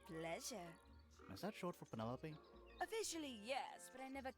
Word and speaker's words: Penelope: is that short for Penelope officially yes but I never can be bed with all four syllables of it Penelope sounds a little ostentatious